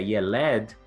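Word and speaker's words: ילד: Uma coisa interessante é que essa mesma palavra, que é escrita da mesma forma, mas é pronunciada diferente, com as vogais diferentes, que é Yeled, é a palavra usada para garoto, menino ou até mesmo criança no hebraico.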